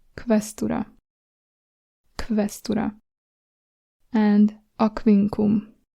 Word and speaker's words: Aquincum: We're actually going to pronounce it like if it was K and V, K and V together.